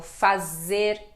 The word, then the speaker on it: faz: né alguns verbos como fazer trazer então som de de z z z quando o z está sozinho no final de uma palavra som de s comem P traz Faz